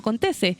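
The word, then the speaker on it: Contesse: Ominami y el ex gerente de SQM, Patricio Contese. Lo pronuncié bien, ¿cierto?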